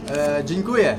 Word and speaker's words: dziękuję: Dziękuję.